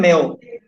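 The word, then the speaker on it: Mayo: That was given by Elton मेयो, या मायो बोल सकते हो, एल्टन मायो या मेयो, जो भी आप इसको प्रोनाउंसिएट करो।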